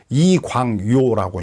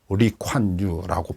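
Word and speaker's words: Lee Kuan Yew: 이광요라고 이제 한문으로는 그러는데 중국말로는 리콴유라고 발음을 하더라고요. 그 사람이 31년 동안 독재를 했어.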